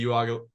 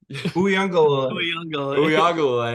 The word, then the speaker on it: Uiagalelei: DJ Uiagalelei. Oh my god, I fucked that up. Uiagalelei.